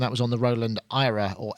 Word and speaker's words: AIRA: yet she says no we've pronounced it Ira so you pronounced it correctly she says it's not era it's Ira AA sounds like error yeah I suppose it